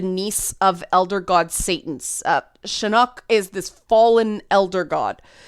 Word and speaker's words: Chinook: called Chinook, her, and I mispronounce Chinook all the time. I apologize. Part of it's the Canadian accent. Part of it is there is a place in, I think it's BC, called Chinook, like the Chinook Center, like Chinook salmon. So I always pronounce it wrong. It's Chinook. I know, I just mess it up.